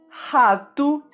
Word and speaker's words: rato: Palavras que terminam com a letra O, em português, sempre são pronunciadas com o som da letra U. Alguns exemplos são rato, carro, barco e até mesmo meu nome.